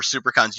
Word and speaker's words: SiouxperCon: So be on the lookout for SuperCon's YouTube page. That's spelled like Sioux Falls, SIOUXPERCON.